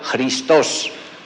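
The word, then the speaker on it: Χριστός: Tiene la forma de X y se pronuncia como una especie de J, Christos.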